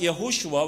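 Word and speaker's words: יהושע: So in Hebrews it's pronounced Yehoshua, which means Yahweh saves, but when it is translated into Greek, the name Yehoshua is equivalent to Jesus, name Jesus.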